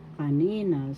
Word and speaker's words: kanina: Second syllable has to accent kanina.